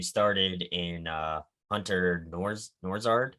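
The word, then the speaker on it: Nourzad: another person who started in uh hunter norris norzard said he pronounced that name um he was a transfer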